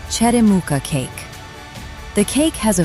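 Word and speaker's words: черёмуха: The next fruit is called cheremuka, pronounced cheremuha.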